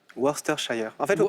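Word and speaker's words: Worcestershire: on serait très bientôt son nom imprononçable webster shire faut dire faut pas dire sester faut dire ce mal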